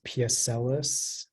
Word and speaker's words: pucellas: Am I pronouncing this correctly? It's piacellus.